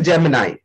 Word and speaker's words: Gemini: So the real pronunciation of this word is Gemini.